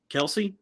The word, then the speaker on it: Kelce: Kelce.